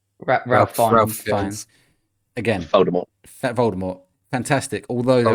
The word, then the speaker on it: Ralph Fiennes: And I always say his name wrong. Is it Ralph Fiennes? Ralph Fiennes.